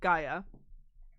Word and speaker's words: Gaia: Gaia is what I said. Gaa. Gaia. It's like everyone disagrees on the pronunciation. I think Gaia is closest to the actual Greek.